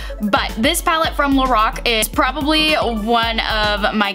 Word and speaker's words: Lorac: some of my previous videos i probably say lorac which what it looks like right but it's actually pronounced lorac but this palette from lorac is probably one of my go-to eyeshadow palettes